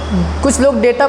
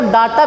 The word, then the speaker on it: data: बार आप सुनोगे डेटा, वैसे कुछ लोग डेटा को डाटा भी बोल सकते हैं, क्योंकि वो DATA लिखा होता है तो कुछ लोग डाटा पढ़ते हैं, जबकि प्रोनाउंसिएशन के हिसाब से डाटा नहीं डेटा पढ़ा जाता है।